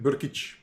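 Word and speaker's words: Brkić: is doing against ante berkich i always like pronouncing his name burkich is how you how you say it i don't have a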